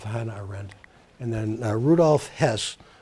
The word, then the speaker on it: Hess: He was the deputy Führer, that's H-E-S-S. This guy, his name I believe is pronounced Hess, but he was actually like the kind of a robotic killer that Hannah Arendt describes.